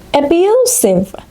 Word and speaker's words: abusive: Abusive. Abusive. The stress is on the second syllable.